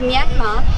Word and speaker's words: Myanmar: Um the way you pronounce Myanmar there's no Rs. So it's Myanmar.